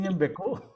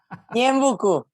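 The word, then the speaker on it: Ñeembucú: ¿Pronuncié bien Ñembecú? Ñembucú, Ñembecú, Ñembucú. Sí, es una Ñembe, palabra en guaraní.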